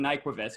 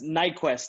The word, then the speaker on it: Nyquvest: I've been saying this for like a few weeks now, Payton Nyquvest, but I just want to make sure I'm saying it right. Yeah, it's a tricky one. It's Nyquist, actually.